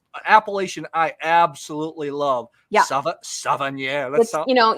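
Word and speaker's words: Savennières: Savennieres. You know, you say it just like it looks.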